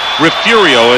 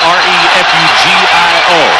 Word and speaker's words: Refugio: 5'9", 180 pounds, from Refugio, it is pronounced. It is spelled R-E-F-U-G-I-O, Refugio, Texas.